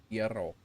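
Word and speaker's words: gyro: Um, the pronunciation of Euro is a Greek dish typically euro with a slight emphasis on the R. Yuro. Euro.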